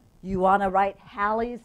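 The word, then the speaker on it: Halley: How do you pronounce it? Nah, it's Hallie's.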